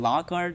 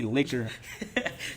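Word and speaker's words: Locard: it they just didn't pronounce it they didn't pronounce it right yeah instead of saying Lockard they say liquor they said liquor and unfortunately it caused me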